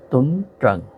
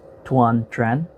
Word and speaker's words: Tuấn Trần: by a man named Tuấn Trần, or if you want to pronounce it in the American way, it's Tuan Tran, but the Vietnamese pronunciation is Tuấn Trần.